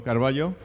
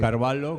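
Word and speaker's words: Carvalho: En 15 segundos Gómez hubiese llevado bien con Carballo. Sí, yo creo que sí. O Carvalo, como queráis pronunciarlo.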